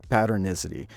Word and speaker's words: patternicity: Neuroscientists call it patternicity — the tendency to find meaning in randomness. (Pronounced: pat-urn-ISS-uh-tee) It’s why we see faces in clouds or hear voices in white noise.